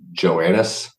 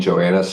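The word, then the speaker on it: Johannes: Also, Elaine, I think his last name's pronounced Joannis. Elaine Joannis.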